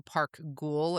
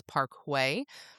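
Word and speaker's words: Park Güell: So Park Ghoul is what it looks like, but apparently the pronunciation is Parkway.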